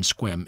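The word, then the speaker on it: Sequim: The E in Squim is never pronounced, except by newcomers. Its name is derived from the S'Klallam word, ch-qua-ing, which means quiet water. North of Squim, a scenic byway, the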